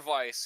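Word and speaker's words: Weiss: grimoire of ice just spelled with a w but they pronounce it with a V oh it's jaron okay grimoire Vice he's a talking ancient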